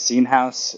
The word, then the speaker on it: Seen Haus: all right thank you for having me yes seen house is the correct pronunciation so you got it right there fantastic